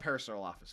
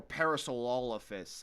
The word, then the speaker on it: Parasaurolophus: So, with that one, we're talking about Parasurolophus, first of all. Right. Or Parasaurolophus, I think is the Parasaurolophus or Parasaurolophus, depending on which pronunciation you listen to on the internet.